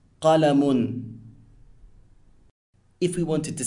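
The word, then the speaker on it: قَلَمٌ: Now, the un sound at the end of the word is known as tanween and renders the word indefinite.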